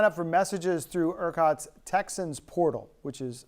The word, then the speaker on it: TXANS: Now you can sign up for messages through ERCOT's Texans portal, which is spelled TXANS.